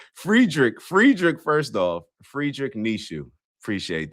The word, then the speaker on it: Friedrich: Frederick Nietzsche. Nishu. I appreciate you giving the pronunciation. Friedrich, first off.